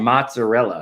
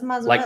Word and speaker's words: mozzarella: Yeah, I always say mozzarella. No, it's mozzarella. Like Mott's applesauce. No, it's and Rella. No, it's MOZ.